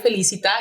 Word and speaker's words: Felicita: And you said it right, Felicita.